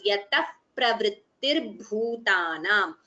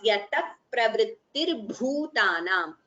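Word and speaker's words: यतः प्रवृत्तिर्भूतानाम्: Yataha pravrittirbhutanam. Visarga followed by pa. It is upadhvaniya, so you get the pronunciation as yatah pravrittirbhutanam. You don't chant the visarga completely, but we chant it as yatah pravrittirbhutanam.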